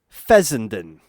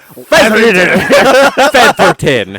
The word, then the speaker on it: Fessenden: wait. Larry Featherton. Featherton. No, there's S's. It's Fessenden. Fessenden. Fessenden. Fessenden. So Larry- for president. It's Larry. Just It's Larry Fessenden.